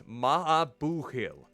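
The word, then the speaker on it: maith an buachaill: The pronunciation is Mahabuhil.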